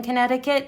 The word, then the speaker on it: Connecticut: And the way that I always remember spelling Connecticut is sounding it out. It's spelled Connect-I-cut. But we don't say it like that.